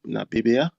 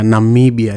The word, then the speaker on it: Namibia: something about his country not nabibia is that's the correct pronunciation yeah yeah Namibia yeah no you're right